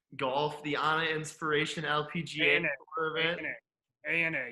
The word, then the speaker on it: ANA: the anna inspiration lpga ana you pronounced it wrong it's not the anna no it's a a i thought it was